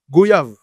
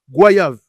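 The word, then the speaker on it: goyave: Certains vont le prononcer goyav, d'autres goyav comme le mot voyage.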